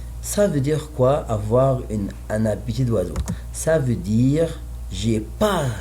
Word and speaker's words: un appétit d'oiseau: I don't say letter T in the end, but I have D, so the same little pronunciation is near of T, so I say un appétit d'oiseau.